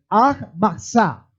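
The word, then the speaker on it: מצה: Y una de ellas es la fiesta de los panes sin levadura, que en hebreo se dice Matzah. Se pronuncia así, que es fiesta de los panes sin levadura.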